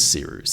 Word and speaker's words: Cyrus: And without further ado, my name is Seeroos. It's spelled like Cyrus, but not like sea rooster.